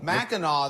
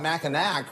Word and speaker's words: Mackinac: Obviously, no weird name series that maybe Mackinac there. Some people sometimes call it Mackinac because there's a C on some of the back. But I think the C is silent if I recall correctly.